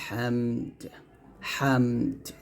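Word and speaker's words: حمده: আসে না হামিদা বলি হামিদা বললে হবে না হামিদাহা দাল হা জবর এরকম ভাবে বলতে হবে তাহলে এখানে বলতে হবে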